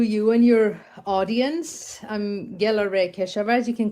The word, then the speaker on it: Gelareh Keshavarz: I'm Gerda Reichelt or as you can call me Gerda. That's a difficult name to pronounce.